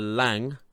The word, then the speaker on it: Lange: the acting from Jessica Lange that's how you say her name someone said in the comments as how you say it's like hang but with an L so that I'm guessing